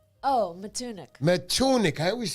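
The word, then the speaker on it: Matunuck: Oh, Matunik.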